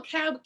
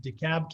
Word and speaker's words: DeKalb: be joined by uh brandi beavers from del cab community or county schools am i pronouncing that right scott cab dekalb county yes the cab the camp county my